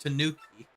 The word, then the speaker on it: Tanuki: Yeah, it's pronounced Tanuki.